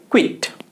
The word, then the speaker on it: quit: तो इसका उच्चारण होता है क्वाइट। जी हाँ, क्वाइट। दूसरे वाले का क्वाइट और तीसरे वाले का क्विट।